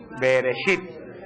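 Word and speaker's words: בראשית: Cómo es pero Cómo se dice en hebreo beresit beresit en el principio creó Dios el cielo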